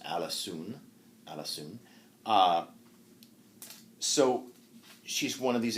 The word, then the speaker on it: Alisoun: In Middle English, it's pronounced Alisoun.